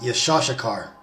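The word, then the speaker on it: יששכר: the tribe of issachar the name isachar is in Hebrew pronounced yashar and that basically means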